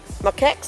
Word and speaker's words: macaques: Macaques, is that how you pronounce it?